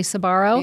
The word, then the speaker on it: Sbarro: Is it literally Sbarro?